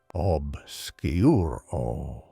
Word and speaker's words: Obscuro: its pronunciation obsuro.